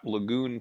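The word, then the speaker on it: Lagun: of that table again it's spelled l-a-g-u-n and if you google that lagoon table you're almost certainly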